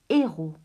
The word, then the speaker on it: héros: sa prononciation et bien vous remarquerez que je prononce un héros on ne prononce ni le hb 1000es on